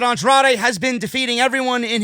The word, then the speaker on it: Andrade: Charlie Caruso interviewed Zelina and Andrade backstage about facing Drew McIntyre. Zelina said, it's not Andrade, it's Andrade. Zelina Vega is now giving, names and pronunciation here on Monday Night Raw.